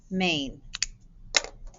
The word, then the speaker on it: main: spelling pattern a main this vowel diagraph is one sound the a is silent i'm sorry the i is silent that a says its name i've got to do